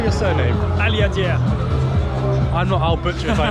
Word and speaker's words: Aliadière: Aliadière.